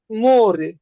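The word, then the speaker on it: море: আর মতন উচ্চারণ হবে এইটা যেমন মোরে এটার উচ্চারণ ওর মতনই হবে মোরে লাস্টে ই আছে তো এই কারণে এটার উচ্চারণ মোরে মোরে মোরে মানে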